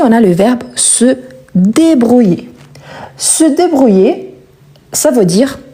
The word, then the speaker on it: débrouille: Ici, on ne prononce pas le E à la fin, car il est muet, et le I, il est prolongé. Je me débrouille.